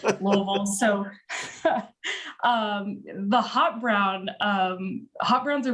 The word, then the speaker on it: Louisville: Oh man, growing up in Louisville, as we say it, you have to really not articulate to say it correctly. Half choke on it a little bit, Louisville.